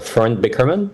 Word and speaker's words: Florent Bekerman: Yeah, my name is Florent Bekerman, so you've been pronouncing it well.